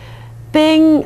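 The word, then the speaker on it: PNG: free replacement of GF ping which is commonly pronounced as ping stands for portable Network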